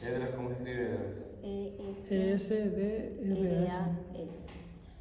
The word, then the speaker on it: Esdras: E-S-D-R-A-S. Tal como suena, Esdras.